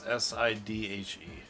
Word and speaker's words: Sidhe: It's called a she, but it's Sidhe. It's pronounced she though.